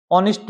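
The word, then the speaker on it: honest: जोडी वाज ऑनेस्ट बॉय। अब देखो भी यहाँ पर एच है वो क्या है, भी साइलेंट लेटर है, एच का उच्चारण नहीं होता। ये क्या है, भी ऑनेस्ट है।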